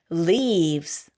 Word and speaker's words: leaves: leaves 끝에 있는 S 발음은 아주 가볍게 살짝 발음해 주세요. leaves.